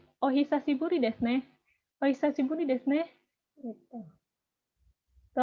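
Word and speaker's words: お久しぶりですね: Bacanya ohisashiburi desu ne.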